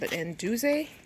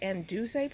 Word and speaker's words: Anduze: I understand and it's called anduze hope I'm pronouncing it right but I think it's anduzay planter and it kind